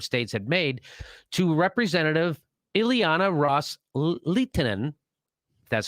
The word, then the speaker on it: Ileana Ros-Lehtinen: So Kerry reiterated to that offer that the Saudis and the Sunni Arab states had made to Representative Ileana Ros-Lehtinen, that's how you say her name, quote, with